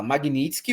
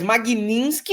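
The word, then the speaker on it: Magnitsky: Ou você fala magnitisk ou magnit magnisk. Você pode fazer o ter mudo, mas Magninski não, não tem esse N.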